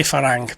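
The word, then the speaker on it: ฝรั่ง: not interested in farang uh I'm trying to pronounce my farang right because people keep I I say farang because I'm lazy in English but it's actually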